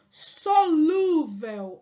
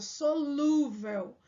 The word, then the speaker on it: solúvel: deveria ter o assento solúvel Olha a pronúncia solúvel né solúvel tá faltando aqui ó o assento porque é uma paroxítona terminada em L Então eu preciso acentuar